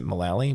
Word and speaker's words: Mullally: yeah, he came in with I can never pronounce his wife's last name. Is it Mullally? Megan Mullally? Megan Mullally, yeah.